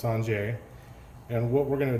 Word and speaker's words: singer: technique today called the sanjay technique spelled s-i-n-g-e-r so it sounds like or looks like singer but it's pronounced sanjay and what we're going